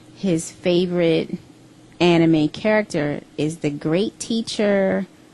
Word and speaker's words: anime: has been an evid lover of all things Anam in 2002 he found a home for his passion at aacon that's pronounced right Odon I think the word you saying is anime anime okay so Odon is an annual anime convention